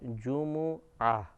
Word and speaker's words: جمعہ: تجدید کے پڑھتے ہیں، لیکن عربی تلفظ کے اعتبار سے جیم اور میم دونوں پر پیش ہے جمعہ، جمعہ کا دن۔ اگر